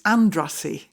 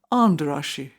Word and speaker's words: Andrássy: Andrasi. Well, that's how we pronounced it, but it should have been Anderashi.